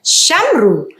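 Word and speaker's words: שמרו: Saya membacanya dengan Shamru, yang dimana Vav ini adalah pembubuhan, dia adalah matres leksionis yang menjadi penanda vokal U, Shamru.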